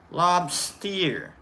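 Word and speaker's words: Lobsteir: Except it's lob and then steer. Like S-T-E-I-R. Lobster.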